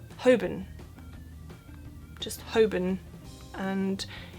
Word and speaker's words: Holborn: now and I know it looks like it should just be pronounced Holborn but it's not obviously that' be too easy this is actually pronounced hobin just hoben and it's